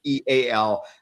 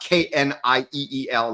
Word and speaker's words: Neal: It is Neal, not Kneel, like some baristas spell it.